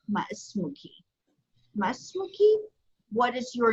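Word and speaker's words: ما اسمكِ: Only once again, we're going to change the fatha to a kasra. Okay, so it's pronounced ma ismuki, ma ismuki.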